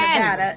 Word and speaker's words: Nevada: sure that Ken understands how we pronounce Nevada um it's actually Nevada you're getting from you're getting from ay because of Nevada Nevada how you Nevada